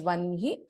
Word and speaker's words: वह्नि: We pronounce this as Vanhi.